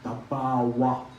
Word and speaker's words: Thabarwa: Now in Thabarwa, Yeikthar, Thanlyin, the correct pronunciation, Thabarwa, Yeikthar, Thanlyin.